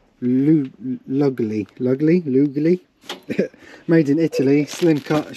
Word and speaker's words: Lugli: I remember how to say this, because I say Luigi, but it's Claudio Lugli.